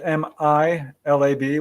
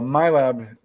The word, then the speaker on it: MILAB: What do my lab do? Yeah. Well, first I would say it's spelled MILAB, which is an acronym for military abductions. And so MILAB, that's what it stands for.